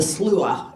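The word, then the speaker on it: Sluagh: This is a Norse version of the Slua is how it's pronounced, by Peter Nikolai Arbo, and it's The Wild Hunt, and this is painted in 1872.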